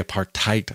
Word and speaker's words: apartheid: by the united nations when i say apartheid i say it like that because that's how bono said it in the song silver and gold on their live album rattle and hum when he said a